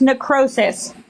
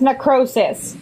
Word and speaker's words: necrosis: It's pronounced necrosis.